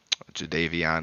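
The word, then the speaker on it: Jadeveon: yeah glad to have Clowney over here um jvon is a beast that's how you say it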